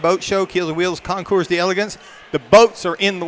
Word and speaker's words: Concours d'Elegance: How you really pronounce Concours d'Elegance is the way it's pronounced. Concours d'Elegance? Uh-huh. Concours d'Elegance. Although it looks like Concours d'Elegance. No, it's not. That's maybe the hillbilly way of pronouncing, but come on over